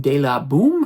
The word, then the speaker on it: de La Baume: You can see the two stars there, uh, Milo Ventamelia and Josephine Deaboom. At least that's how she pronounces her name.